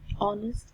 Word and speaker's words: honest: example we say are honest and here the initial consonant of H is not pronounced so we say Adam